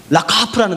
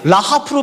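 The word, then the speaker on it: רחף: 꼭 라카프라는 단어예요. 라카프. 이게 사실은 카 발음이 잘 안 돼요. 라하프로 발음하기도 하고 독일 발음처럼 라카프 목에서 나오기 때문에 이 발음이 좀 어려워요.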